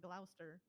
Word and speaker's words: Gloucester: I'm just gonna say this is just based off of your Gloucestershire. pronunciation and your dialect that you have, and not based off of the actual spelling, because the spelling is completely different.